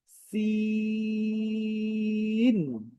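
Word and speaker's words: سين: আচ্ছা, উচ্চারণটা কেমন হবে? ইংরেজিতে যে সি আছে, এ বি সি, ঠিক সি এর মতো উচ্চারণ হয়, সে সেখানে একটু ন যুক্ত হয়েছে, যেরকম সিন, একটা ন যুক্ত হয়েছে আর কি।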